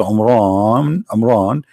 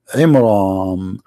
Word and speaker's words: Imran: the name wrong, because it's not Amran, it is Imram, which means the last letter is M, not N.